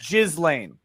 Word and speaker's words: Ghislaine: but you've got to pronounce her name right. It's Ghislaine. I say Ghislaine because that's what her defense counsel called her.